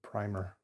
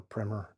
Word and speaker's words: Primer: This one is The Diamond Age, or A Young Lady's Illustrated Primer or Primmer depending on how you say it.